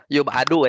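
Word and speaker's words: يُبعَد: ya jadi kalau yub'aidu, kalau majhul bacanya yub'adu ya. Kalau majhul bacanya yub'adu.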